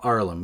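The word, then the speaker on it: Haarlem: he was from harlem but the harlem with two a's arlem yeah so manhattan was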